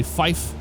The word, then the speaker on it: fife: Instead of 5, you'd say fife. Instead of 3, you'd say tree. 9 is niner. 4 is fower.